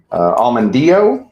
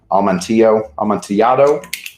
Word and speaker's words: Amontillado: There is Almondillo. That's not how you say it. Amontillado.